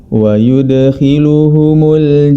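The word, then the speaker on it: وَيُدْخِلُهُمْ: Di ayat ke-6 pada surah Muhammad terdapat kata wa yudkhiluhum, ya. Huruf dal yang berharakat sukun, ya, maka dia harus dipantulkan ketika membacanya, karena huruf dal termasuk dalam sifat qalqalah, yang mana Imam Ibnul Jazari rahimahullahu ta'ala telah merangkum dalam syairnya.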